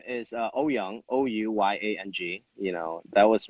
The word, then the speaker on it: Ouyang: stage as Jimmy Ouyang, Ouyang, Ouyang. But nobody can pronounce it. It's 4 vowels Right. together, Ouya.